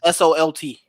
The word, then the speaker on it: Solt: How do you even spell that name, dude? Ron Solt. It's S-O-L-T.